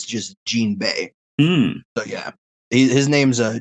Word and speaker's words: Jinbe: at the end and it'll just it's just Gan Bay so yeah his name's a gan Bay awesome